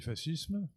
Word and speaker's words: fascisme: Mais ma maman étant d'origine italienne, Je prononce à l'italienne fascisme.